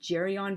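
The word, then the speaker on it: Geryon: case it's hard but because the name comes from Greek mythology originally I think it would be a hard G so carry on but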